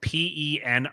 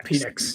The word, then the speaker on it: Penix: It's spelled P-E-N-I-X. Oh yeah, Penix.